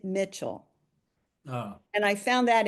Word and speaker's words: Michel: And her name happened to be the same as mine, Hedwig, but she pronounced it Mitchell.